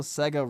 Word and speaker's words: Sega: I love how Sega rhymes with mega, and the drive at the end just sounds cool.